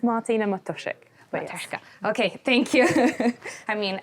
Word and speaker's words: Matuszyk: Martina, it's Martina Matoshik. Okay, thank you. I mean, I'm Portuguese and my my name gets pronounced badly all the time, so but I I really try my best.